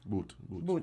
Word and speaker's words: Bout: the U.S., releasing notorious Russian arms dealer Victor Bout. Boot. Oh, sorry. Because I don't want to pronounce this man's name, man.